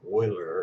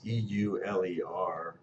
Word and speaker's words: Euler: I think there's a theorem for that by a guy named Euler. It's E-U-L-E-R, mispronounced Euler, but it's Euler.